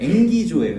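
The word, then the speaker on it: ἐγγίζω: 어떤 발음이냐면 앵기조예요. 앵기조. 이게 가까이 왔다. 재밌죠? 가까이 앵기는 것 같은 앵기조가 가까이 왔다예요.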